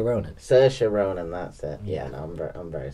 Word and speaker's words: Saoirse: that same lady but anyway yeah Roman Oh Sasha Ronan Saoirse Ronan laughter yeah I'm very sorry so in